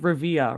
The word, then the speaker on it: Rivia: uh is it it's it is said like Rivia right Rivia Rivia what is your